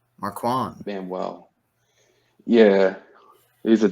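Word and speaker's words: Marquand: wmer time it's like Mark Mark juand Manuel spell that for me m a r q u a n d Marwan Marwan man well yeah he's a Jets defensive coach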